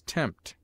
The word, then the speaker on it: tempt: as in Psalm and between M and T as tempt pH is used for